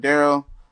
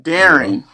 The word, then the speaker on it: Darren: We in here with Daryl.